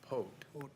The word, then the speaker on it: Poth: Actually, the old timers call it Pote. Pote? Pote. Okay. That's the Polish pronunciation.